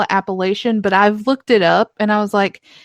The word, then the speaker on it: Appalachian: It's Appalachian. You said it right.